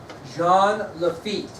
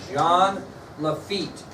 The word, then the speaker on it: Jean Lafitte: name of Jean Lafitte Jean Lafitte so does not sound like it's spelled like it sounds Jean Lafitte is a French pirate